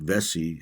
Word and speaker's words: Vesey: Okay, so the first one, Denmark Vesey, happened in 1822. And basically, Vesey, by the way, his last name is spelled Vessey.